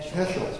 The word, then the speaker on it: Heschel: Rabbi Heschel, and I'm not sure how to pronounce his name. Heschel, yes, that's correct.